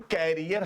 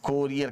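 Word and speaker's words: career: हाँ यहाँ बच्चे पर अक्सर परेशान होते हैं, वो बोलते हैं कैरियर हमारा कैसा है, कैरियर कैसा है और कोरियर कैसा है।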